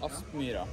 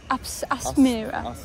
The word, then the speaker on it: Aspmyra: How do you pronounce the stadium name, by the way? Aspmyra. Aspmyra.